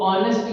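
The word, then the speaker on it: honest: तो ऑनेस्ट यानी कि ये आर से शुरू हो रहा है। और नेक्स्ट हमारा आर यहां पर यहां पर एच हमारा साइलेंट होता है।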